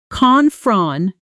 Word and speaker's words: confrontation: The correct stress pattern is confront tia tion with the strongest emphasis on the third syllable. Say it slowly first. Confrontation. Now hear it inside a natural sentence at speed. I really don't do well with confrontation. Try saying that yourself, matching the rhythm, letting that third syllable rise slightly in pitch the way natural stress does.